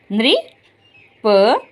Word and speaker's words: नृप: तो इसको पढ़ेंगे हम नको री नृ प नप।